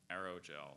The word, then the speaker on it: aerogel: Are there any alternate pronunciations? There's just the one, aerogel.